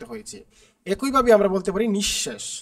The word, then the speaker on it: নিঃশেষ: একইভাবে আমরা বলতে পারি নিঃশেষ নিঃশেষের মধ্যে কিন্তু দেখো এখানে তালবস এর আগে কি বিসর্গ দুইবার আছে কারণে তালুবশ্য দুইবার উচ্চারিত হয়েছে আশা করি তোমরা বুঝতে